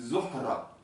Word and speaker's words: Zohra: En arabe, le H au milieu du mot se prononce. C'est Zohra. Hein, et le R roulé.